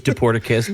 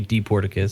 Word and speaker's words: Dporticus: Either way, it's usually the quick is Dporticus, but technically it'd be Dporticus.